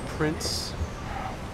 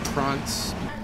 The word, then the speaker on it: Prince: life said he said Prince but it's pronounced prawns and goodbye Tobias they say it up in the throat like the French do the prawns Katie used